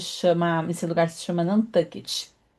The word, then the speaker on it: Nantucket: Essa ilha pertence ao estado de Massachusetts e ela se chama, esse lugar se chama Nantucket. se escreve tuet, mas se pronuncia tu tuget.